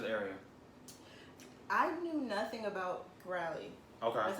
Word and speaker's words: Crowley: you to this area i knew nothing about crowley okay that's how you say it because they